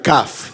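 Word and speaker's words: כף: A ver, estoy hablando de la letra 20, la CAF, perdón. Sí, gracias, gracias por corregirme. Gracias. Sí, no la COF, sino la CAF. ¿Cuánto vale la CAF? 20. Pero resulta que aquí está la CAF Sofi.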